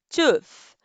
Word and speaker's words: tooth: Então, tem o TH no final, precisa falar ele, tooth.